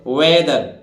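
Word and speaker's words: whether: बोलते हैं इसी तरह डब्लू एच ई टी एच ई आर देखिए डब्लू एच तो एच साइलेंट रहेगा तो देखिए डब्लू ई व और टी एच ई आर टी एच यहां किसका दे रहा है दा का उच्चारण तो वेदर ठीक है वेदर ये वेदर है भाई वेदर वेदर माने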